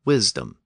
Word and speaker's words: wisdom: That meant that the first vowel tended to be pronounced short. So we ended up with the modern distinction between wise and wisdom.